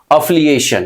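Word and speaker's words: affiliation: अफिलिएशन क्या बोलेंगे, अफिलिएशन, इस ये प्रोनाउंसिएशन ध्यान रखना।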